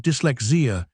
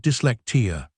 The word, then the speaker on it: dyslexia: name of his disease instead of saying I have dyslexia he says I have dlecta dyslexia is an incopy